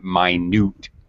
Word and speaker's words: minute: uh e uh yes this word does look like minute in this definition though we change we actually change pronunciation so this would be even minute amounts meaning tiny minute the pronunciation has changed for this meaning it's a little odd